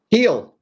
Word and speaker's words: Gil: heel was in eel Gil how do you say it heel like H I thought he was